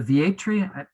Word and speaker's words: Vietri: nicholas a brand new book is it the va tree yeah is that the right pronunciation yep the entry project um is just